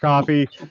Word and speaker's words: Ko-fi: It's pronounced coffee. I know it looks like Ko-Fi. It's pronounced coffee.